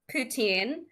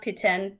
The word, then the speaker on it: poutine: there are some people who will call it poutine mostly from Toronto because they're like the least Canadian group of Canadians but it but it is pronounced Putin because it is from Quebec and if you're